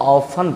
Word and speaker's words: often: जैसे आप देखिए OFTEN, इसको हम लोग ऑफन पढ़ते हैं, ऑफन, ऑफन मतलब प्रायः। अब गौर करिए आप कि TN लास्ट में था, टी साइलेंट हो गया है।